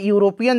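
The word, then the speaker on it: European: अब यहां पर देखिए यूरोपियन जो है ना इसका उच्चारण कैसा हो रहा है तो इसका भी कॉन्सोनेंट ही है अंग्रेजी हिंदी वाला ठीक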